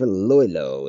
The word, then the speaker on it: Iloilo: And I wonder if Iloilo is correct pronunciation.